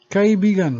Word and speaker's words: kaibigan: Kaibigan means friend and is pronounced slow. It is only pronounced fast when paired with pala, as in pala kaibigan, meaning friendly.